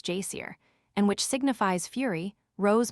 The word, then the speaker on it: geyser: The geyser, a word the Icelanders pronounce jier, and which signifies fury, rose majestically from its summit.